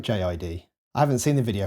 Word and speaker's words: J.I.D: Imagine Dragons featuring J I actually looked up how to say J to see if it was jod or jit and I found an interview with him saying it can be pronounced either way or both ways although for this track I see that they have separated the letters out so we'll go with jid I haven't seen the